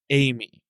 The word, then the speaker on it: Ai-Me: TCL's Amy, which, listener, is spelled AI-me. It's like AIME. 2 words, but it's pronounced Amy.